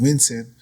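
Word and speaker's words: Wisin: How do you pronounce it? Winston.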